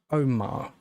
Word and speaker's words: Omagh: Trevor Buchanan was born on the 2nd of May, 1959 in Omagh, I believe it's pronounced, which is also in Northern Ireland, to parents William Buchanan and Elizabeth Wilson.